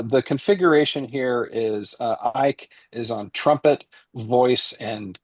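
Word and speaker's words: Eick: Matias Ike. Spelled E I CK. I think that's right. I mean, it might be Matias, but yeah, I think Ike is the right uh pronunciation there with album is called Lullabi.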